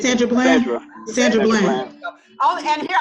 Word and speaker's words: Sandra Bland: sisters plural because we knew, what was it, Cassandra? I say her name wrong. Jocelyn, you remember the one that went to jail? And she said, Sandra Bland.